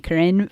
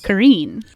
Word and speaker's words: Korine: a Harmony Karin movie there's contention over pronunciation of Harmony Karin's last name but I'm going with Karin yeah what's the other what are the other candidate pronunciations Karen okay Karin Karen okay all right and I'm neutral on that I feel agnostic about that